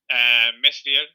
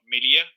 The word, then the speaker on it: Meslier: It would have been a bench boost with Rafinha and Bamford, Meslier or Melia. Yeah. I guess is the pronunciation in French.